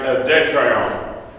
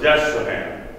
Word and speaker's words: Destrehan: Pierre Marigny had married Detrayon, or as we mispronounce it, Destrehan. And his wife, Jeanne-Marie Detrayon, had a brother who had married Félicité de Saint-Maxent.